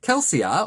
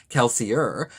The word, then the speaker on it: Kelsier: right I certainly did kelsia or if you prefer the American pronunciation kelsier comes along and rescues